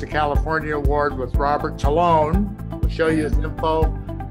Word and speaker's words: Tolone: of the channel just my name is robert tallone i americanized my name to loan because it pronounced it you know we've killed the old